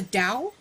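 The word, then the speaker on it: Dao: I believe it's the Dow it is it is but that's how you say it in Chinese but you know I've I've grown up here everyone says Tao I'm used to it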